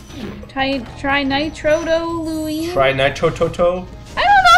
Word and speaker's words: trinitrotoluene: Trinitrotoluene. Trinitrotoluene.